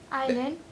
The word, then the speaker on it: island: Invent, inverse, Iceland, justice, Island. island, justice, lantern, market. That S is silent.